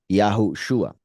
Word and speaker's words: Yahushua: And like I show right here, you can see how those two words are pronounced. I mean, two words because I separated it here. Yahushua.